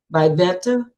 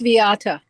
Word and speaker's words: Viata: There's me, Wanda, and somebody looks like um, Vivetta? Am I saying it correctly, your name? You're muted. Yeah, this is Viata.